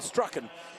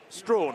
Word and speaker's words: Strachan: from Bowie's 4, and Strachan in with 2 points. Strawn, I should say, is how it's pronounced.